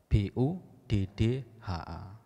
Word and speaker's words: Buddha: Contohnya kata Buddha. B-U-D-D-H-A, diucapkan Buddha.